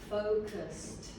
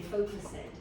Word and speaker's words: focused: Focused. Focused. Con una D pronuncia. Focused. Focused. Because you say focus it.